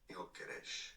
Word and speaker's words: Gyökeres: So in Swedish, it's pronounced as Viktor Gyökeres. Jokeres.